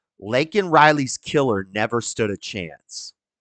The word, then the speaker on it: Laken Riley: And he says her name wrong. And he's like, Lincoln Riley?